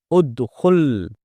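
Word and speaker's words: اُدْخُلْ: This verb has dhamma on its middle radical, so we will pronounce hamza al-wasl with a dhamma and say udkhul, meaning enter.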